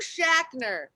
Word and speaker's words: Schachner: All right, how do you pronounce your last name, by the way? I'm Schachner.